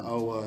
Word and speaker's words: OWA: down to Foley, Alabama, to the OWA to see. The OWA or is it the OWA? Yeah, that's what I meant to ask you. How do you pronounce it? It's Owa.